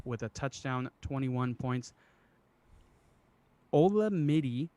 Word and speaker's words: Olamide: Olamide, I think is how you say his first name, Olamide Zaccheaus, whatever, from the Atlanta Falcons gets 8 receptions, 86 yards, 16 points.